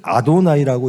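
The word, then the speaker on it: אֲדֹנָי: 야훼라고 성경에 써여 있으면 그것을 아도나이라고 읽습니다. 자음만 따와서, 자음의 앞에만 따와서 아도나이라고 읽어요.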